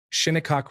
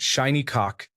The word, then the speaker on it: Shinnecock: Shinnecock Road. My son thinks pronouncing it Shiny Cock is the pinnacle of humor.